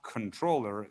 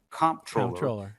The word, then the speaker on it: comptroller: Well, it's certainly not controller. The the job is in the constitution comproller. And as I said, typically the debate has been over what which uh which syllable that you emphasize. I happen to say comproller. I I hit it hard on the on the first syllable.